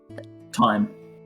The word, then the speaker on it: thyme: composition Thyme. of tastes. What is Ah, thyme? It's a Wait, wait, what is Time. I thought Thyme? it's THYM. It is, but It's spelled weird, but it's always Pronounced pronounced thyme.